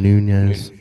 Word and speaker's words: Nunes: Nunes.